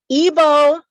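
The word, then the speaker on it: Igbo: know what it's about evo landing and it's spelled i-g-b-o sometimes evo landing is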